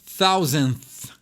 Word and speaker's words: thousand: da repetição né E essa palavra é difícil né thousand tem o th No início tem th no fim essa aqui é bem complicada de pronunciar né mas é a